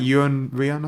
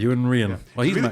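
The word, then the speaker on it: Iwan Rheon: r k isn't it how do you pronounce his name something like Yan ran I think Yan ran he's really good singer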